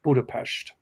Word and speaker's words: Budapest: People say here, but it's pronounced Budapest.